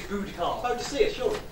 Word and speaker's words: Boudica: She pronounces it Boudicar.